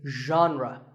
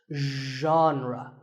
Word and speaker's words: genre: would you say it the correct pronunciation is genre pay attention to the first sound it's like but you have to put your voice into it genre genre next up is actually